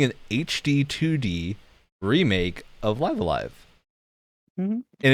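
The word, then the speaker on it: Live A Live: It's Live Alive. Before We've got an those official were all pronunciation correct. now. A lot of people thought it was Live Evil because the second live is like reversed.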